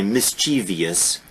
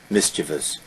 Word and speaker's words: mischievous: Universally misspelled, mispronounced. Because Americans will always say mischievous, but there is no I there, there is no E there. Mischievous.